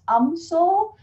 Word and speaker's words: UMSL: in my backdrop view msl pronounced amsoul for all of our